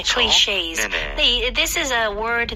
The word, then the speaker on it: clichés: 그리고 발음할 때 클리셰가 아니죠? 네, clichés. 영어로 발음하면 네, AYS처럼 끝내셔야 돼요. 이렇게 늘려서 하는 발음이 느껴지네요. 네, 그렇죠? clichés.